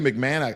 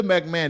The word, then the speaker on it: McMahon: McMahon I I guess when you say McMahon I the ho um is silent but yeah Linda McMahon they trying to make